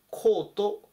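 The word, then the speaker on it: caught: ちなみにキャッチの過去形でこの単語コートというふうに発音します。こちらは伸ばす発音なので、このコートとこちらのコートは違う発音です。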